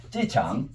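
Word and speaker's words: 机场: 기장하고 비슷하게 중국 발음이 난다 이 말이지. 어떻게 다 해봐. 찌창. 기장하고 비슷해요 안 비슷해요?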